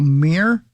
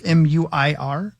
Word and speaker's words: Muir: former NFL defensive tackle Daniel Mir it's Muir I only say Mir like that because that's how you pronounce the Fighter's name yeah um has been